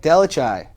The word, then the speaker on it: DelleChiaie: my guest this week my friend uh delachai did i get it right i said it